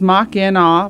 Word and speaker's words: Machina: And I was told, yes, it is Mach-in-aw for pronunciation.